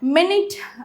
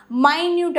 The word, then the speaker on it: minute: So next வந்து மினிட் அப்படின்னும் சொல்லலாம், மைன்யூட் அப்படின்னு இதை ப்ரொனவுன்ஸ் பண்ணலாம்.